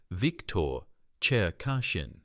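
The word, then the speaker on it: Cherkashin: Victor Chashin, pronounced Victor Cher Kashin.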